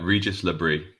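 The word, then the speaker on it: Régis Le Bris: Firstly, talk to me about the manager and what's the correct pronunciation? Uh, Regis Labri.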